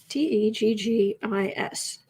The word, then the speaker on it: Texas: Teggis. And I lived there, so I know that's how you say it.